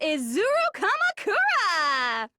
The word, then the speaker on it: Izuru Kamakura: Izuru Kamakura! That's how you pronounce that.